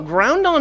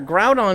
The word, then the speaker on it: Groudon: No, Groundon is or Groudon is 100% the right way to say it.